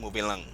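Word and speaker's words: mové lang: So the patois alphabet is MOV E acute, like E acute, and L With the accent over the E, right? That's when you say going E right. acute. Right. As in like in the Kote here, and lang would be LANG, moving lang, Okay.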